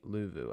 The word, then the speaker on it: Luvu: The pronunciation is Frankie Luvu.